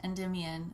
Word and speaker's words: Endymion: that song is that typically people don't pronounce their names Celine and Endemia, but we really wanted it to rhyme with You Will Lie Down. And so it's Selene and Endymion is the more usual pronunciation.